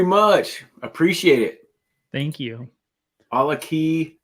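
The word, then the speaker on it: GlenAllachie: A la key, not a latchkey. Glenn. He's always like mentioning how I pronounce everything wrong. It's inevitable. A la key. Inevitable. Glenn Allachie. Allachie. It's Allachie.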